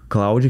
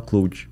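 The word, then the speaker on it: Claude: é é que ele ele é Claudia que se escreve mas ele é francês daí tu que sabe falar francês me falaram assim ah isso aqui tem que falar cloue é se é Cláudia é é cloue é porque a o em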